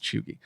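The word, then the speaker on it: cheugy: and i did go look up it is pronounced chugi but basically it it kind of is like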